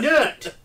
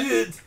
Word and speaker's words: Newt: Hey, Nut! Hey, yeah. Newt! Hey, Newt. N-E-W-T.